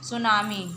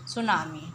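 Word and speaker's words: tsunami: उसमें साइलेंट लेता है सुनामी टी एस यू एन ए एम आई तो जो टी रहता है उसम साइलेंट रहता है सुनामी ठीक है फिल इन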